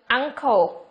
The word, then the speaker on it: uncle: Trường thứ nhất là cái chữ cái n của chúng ta được phát âm là âm ng. Nếu như chữ n đó đứng trước âm k hoặc là âm g mà chúng ta học trước đây.